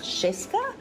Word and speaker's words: Yeska: Yeska's, it's actually pronounced Sheska, and it's my husband's family name, and it means to ignite.